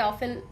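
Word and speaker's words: often: এটা অনেকে অফেন pronounce করে। আবার অনেকে অফটেন বলে। Both correct.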